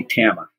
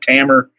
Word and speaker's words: Tama: know ichiro and so they're not gonna say tama in japan yeah so when they say tama i say tama i say tama but i'm cool however it's pronounced i meet a lot of people that say tama tamer camera you know all kinds of pronunciations that are americanized and fine with me you